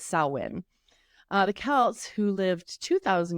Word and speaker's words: Samhain: A lot of people try to pronounce it Samhain, but it's Samhain.